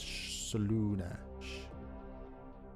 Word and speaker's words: Slaanesh: But it's spelled S-L-A-A. You'd think it'd be Slaanesh. It's Slaanesh. Slaanesh.